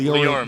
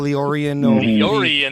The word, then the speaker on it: LioranBoard: LioranBoard. LioranBoard. Yeah. I always trip up on that. Billy puts an extra I in there, and I do. I call Liorian.